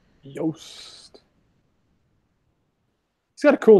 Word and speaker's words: Yost: John asks how to pronounce the actor's last name who played Billy. That's David Yost. Yost.